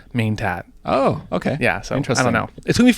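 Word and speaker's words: Ng Man-tat: and then uh yeah gain tat but apparently you're not supposed to pronounce the Go part so it's just main tat oh okay yeah so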